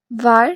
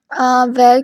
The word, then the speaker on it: var: वार, late, cons. ठीक है, वेर की जो प्रोनाउंसिएशन है आप उसको वेर भी पढ़ सकते हैं, वार भी पढ़ सकते हैं।